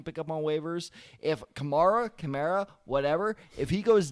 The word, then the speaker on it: Kamara: going to get because alvin kamara is a camaro kamara because he got mad about this a couple weeks ago with someone else mispronouncing it i always say camara but see how it's going gemara allen k the